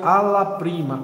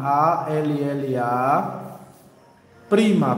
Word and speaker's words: alla prima: vai ser lá prima a palavra se pronuncia alla prima a l l a prima prm a la prima